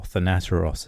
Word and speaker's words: Thanateros: the Illuminates of Thanateros, or Thanateros as it's now pronounced, back in the very early 90s, maybe a little before that.